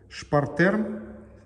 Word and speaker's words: Spartherm: Найди, пожалуйста, топку Шпартерм. Пишется Спартхерм. 3RLH.